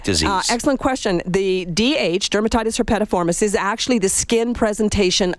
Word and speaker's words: dermatitis herpetiformis: I'm going to mispronounce this, I guarantee it, but Jennifer says I have dermatitis herpetiformis. Awesome, you pronounced it right.